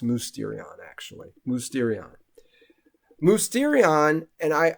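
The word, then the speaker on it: μυστήριον: challenge is where you see that Greek word Mysterion okay and it's actually pronounced musterion actually movesterion mosterion and I I want you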